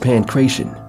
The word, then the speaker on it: Pankration: Arts like Russian Sambo, Bruce Lee's Jeet Kune Do, and even a revitalized form of Pancration, pronounced Pancration, were central to the restructuring across the martial arts world that groomed practitioners to compete in MMA.